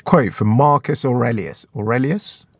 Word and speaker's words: Aurelius: Aurelius? Yeah, I think that's how you say his name.